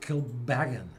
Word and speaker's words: Kilbeggan: So the pronunciation is on the second syllable, mm-hmm. as it is with Kilbeggan.